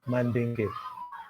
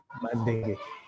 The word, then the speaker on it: Mandenge: My names happen to be straight, easy to pronounce, just as they are spelled. Mandenge. Mandenge.